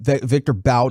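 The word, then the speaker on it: Viktor Bout: try and do some level of deal um victor bout i believe that is the correct pronunciation i can't remember um nick has been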